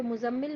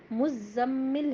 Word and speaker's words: Muzzammil: इसके प्रोनंसिएशन पर तो मुजम्मिल मुजम्मिल नहीं कहेंगे मुज्जम्मिल है ये क्योंकि जई पर भी शदा है यानी तज दीद है जिसको दो बार हमको प्रोनाउंस करना होगा ठीक है जब ऑफकोर्स